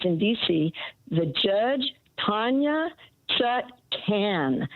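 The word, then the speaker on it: Chutkan: introduced herself and she said my name is chut can so and and then the other thing about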